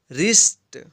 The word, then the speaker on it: WRIST: यहाँ पे भी W के बाद जो है R है, इसलिए W का उच्चारण नहीं हुआ है। WRINKLE, wrinkle. Wrinkle means झुर्रिया। WRIST, रिस्ट।